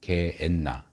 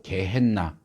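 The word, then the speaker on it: γέεννα: 요한네스, 요한, 뭐 이렇게 조금씩 발음이 달라지는데, 그래서 원래 개 흰놈인데 게엔나. 우리한테는 영어로 게헨나, H 발음을 넣어갖고 게헨나라고 영어는 그렇게 하는데, 같은 단어를 얘기하는.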